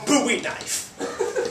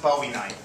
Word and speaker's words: Bowie knife: idea it's laminated I don't technically have a buoy knife I believe it's pronounced Bowie knife in my ears because I didn't hear you